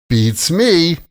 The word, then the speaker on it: Beats me: And remember the intonation here. Beats me. The stress is on me. And there's an extra kind of syllable there, right? Beats me, like you're singing.